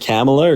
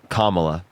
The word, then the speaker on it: Kamala: don't know her name how do you pronounce it is it camela or Kamala Kamala okay yeah why don't